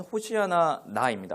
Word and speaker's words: 호산나: 자, 히브리어로 보면 호시아나입니다. 호시아 호시아나. 그러니까이어서이어서 발음하면 호산나가 우리 발로는 호산나가 되는 거예요.이 뜻이 뭐냐면 구하옵나니 이제 구원하소서.